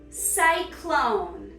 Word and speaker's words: Cyclone: Cyclone. Psych, you're a clone.